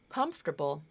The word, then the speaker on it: comfortable: between the Beats so in the word comfortable the first syllable com has stress the other two syllables are not stressed so every time I